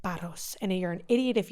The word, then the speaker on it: Paros: And you do say it like Paros.